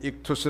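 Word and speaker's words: ΙΧΘΥΣ: 아 이케 쓰라고 하는데 흔히 익투스 라는 발음으로 잘 알려져 있습니다 이 두 개의 옥사를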